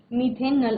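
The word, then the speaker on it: methanal: कहते हैं ठीक है मेथनल आपको पता है एल्डिहाइड जब प्रीफिक्स में आप उसको प्रोनाउंस करते हैं तो अल की साउंड आती है तो मेथनल इथेनॉल ओके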